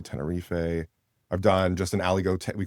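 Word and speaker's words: Aligoté: I've done just an Aligote, we call it Aligote weekend, but Ali is spelled like Alleyway.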